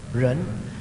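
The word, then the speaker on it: 仁: Jadi istilah ren, semua ikut ren. Bacanya sama-sama ren ini. Jadi manusia itu ren, manusia yang sudah sukses ren, sama bacanya ren, ren.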